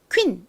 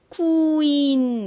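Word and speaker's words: queen: 단어를 한국식으로는 퀸이라고 표기하고 실제 미국식 마음으로 하실 때에는 퀸 이렇게 발음하기 다 인을 빠르게 연결 해 발음을 하시는 것이 더 정확합니다 따라해 보세요 한 번 더 해 볼게요 너무 느리게 쿠인 이렇게 하시면 안 되고요 빨리 연결해 주셔야 됩니다 쿠 좋습니다 코인의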